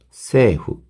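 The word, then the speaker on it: 政府: 니혼노 히토다치, 일본 사람들과 세후, 세이 후인데 이것도 마찬가지로 중간에 있는 이가 장음이기 때문에 세에 후 이렇게 발음이 되거든요.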